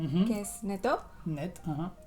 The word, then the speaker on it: net: Sí, como net, que es neto.